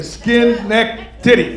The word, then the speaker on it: Schenectady: I'm from Schenectady, New York, in upstate New York. Who's ever heard of Schenectady? All right. Don't ask me how to spell, but I can say it phonetically. Skin, neck, titty.